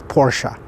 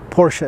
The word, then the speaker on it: Porsche: By the way, for those of you that don't know, it's Porsche, not Porsche. Porsche is something you sit on, maybe in front of your house. No, that's a porch. But Porsche is the correct pronunciation of it.